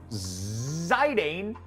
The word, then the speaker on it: Zidane: Zidane. Or Zidane. Wait, is it Zy or Z? It's Zidane, right? The pronunciation? Fucking one up. Z? Right, yeah, okay. You gotta pronounce it in French.